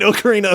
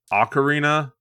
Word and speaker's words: Ocarina: since I have played oakarina of time but somehow those Tunes are still just in the recesses of my brain and the funny part too is I think it's actually pronounced Ocarina Paul always think so